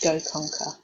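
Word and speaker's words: GoConqr: If you just search Go Conquer, which is spelled G-O-C-O-N-Q-R.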